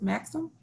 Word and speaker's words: Maxim: Is it Maxim? Can you hear me? Yes, hi. Okay, yeah, you pronounced my name right.